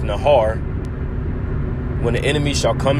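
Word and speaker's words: נהר: here that word flood in the hebrew is pronounced nahar when the enemy shall come in like a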